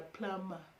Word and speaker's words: plumber: So of course you know that they've been a plumber. A plumber. Yeah. You guys told me that the B is supposed to be silent because in Kenya we pronounce the word this word clamber.